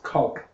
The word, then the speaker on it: caulk: thought that was caulk. Well, You that's, know, a big old tube of caulk. Caulk is also involved. I'm making a joke. Sounds like cock, like penises. Because it's pronounced cock.